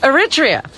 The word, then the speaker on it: Eritrea: How do you pronounce that country, Robin? Eritrea.